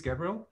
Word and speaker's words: Gabriele: this tool special so my name is gabriel if you want an english pronunciation or gabriele you want an italian one and as roland said